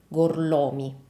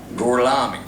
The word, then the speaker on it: Gorlomi: Remember, the correct way to say this is gorlomi. Gorlomi? Lo pronuncio correttamente? Sì, corretto. Gorlomi? Per cortesia, me lo ripeti ancora? Gorlami.